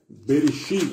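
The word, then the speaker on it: בראשית: Bereshit, é assim que se pronuncia, tá bom?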